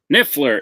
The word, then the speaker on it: Niffler: nfler Thomas didn't have it and J niffler niffler is correct I was like